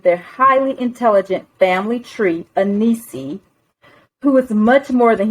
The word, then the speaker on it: Enisi: And did I say it right, Enisi, the Bleu Realm?